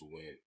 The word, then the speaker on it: Nguyen: I think the name that is the exact opposite of that shit is Win. Yeah. Like, that shit is fucking crazy. This shit is spelled weird as fuck, but easy as pronunciation.